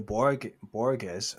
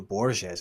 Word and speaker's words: Borges: Yeah, so he drawn against Nuno Borges, or Nuno Borges, I should say. That's how it's pronounced.